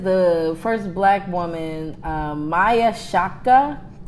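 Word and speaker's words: Chaka: The first is the first black woman, Maya Shaka. How you spell it? C-H like Shaka Khan, AKA.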